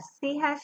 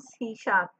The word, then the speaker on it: C#: सी हैश is pronounce सी शार्प।